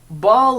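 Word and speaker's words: Baal: so uh I guess they're going with ball is the pronunciation of the name it's b a a l which I was never really sure on I've heard it pronounced other ways and I think maybe it's sort of pronounced a bunch of different ways but they just keep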